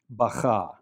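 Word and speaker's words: בכה: The bet makes a B sound because it has a dagesh. The kaf makes a ch sound because it lacks dagesh. And the hey at the end of the word is not pronounced at all. It just represents the A vowel, just like we saw earlier in the word malka for queen. Bacha, he wept.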